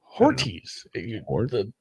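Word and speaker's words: Hortiz: Ortiz. The emphasis is on the first syllable.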